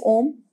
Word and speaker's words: Om: Because like I said, you pronounce it. And if you say it at a proper volume, it also has a rhythm. It’s A-O-M. You should get that feel in your body, you should get that sound.